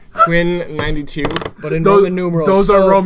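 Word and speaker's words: Quinn XCII: Those are Roman numerals, so it's XCII, Yeah. which I think is 92. Quinn 92.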